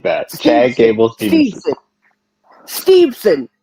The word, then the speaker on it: Steveson: like that Chad Gables steveson not Stevenson there's no way no